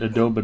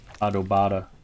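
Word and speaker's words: adobada: tacos no autobahn tacos i was pronouncing it adobe and then i heard somebody of mexican descent actually walk up and order adobata i was like oh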